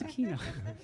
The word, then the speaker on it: Aquino: I'm telling you what my name is it's aino so that was my that was my nice way of saying my name is aino when they when they mispronounced it in uh